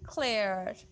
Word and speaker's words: clear: Clear. Clear. Clear. No, that is actually clear, clear, clear. After A, the R would be silent. EA would sound as A.